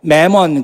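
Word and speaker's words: mammon: 또 영어에서도 이 맘몬이라는 말을 쓰지만 이제 뭐 매몬 그렇게 발음을 하죠.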